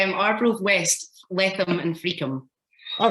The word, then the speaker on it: Friockheim: Could you tell us how to pronounce it? It's Arbroath West, Letham and Freakham.